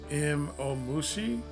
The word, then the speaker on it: Imomushi: with um the caterpillar I believe it's pronounced M om Mushi um that was killer